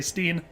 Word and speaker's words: stein: for words like stein i know it's pronounced stein but uh doesn't mean i'm not gonna say steen yeah i'm going